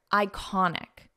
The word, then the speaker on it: iconic: world's most iconic sites listen to the pronunciation here iconic iconic iconic so we pronounce this as an i sound iconic and the syllable stress is in the middle iconic sites now because we